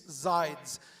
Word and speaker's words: Zides: It's Zides. It's like the left sides and the right sides but with a Z.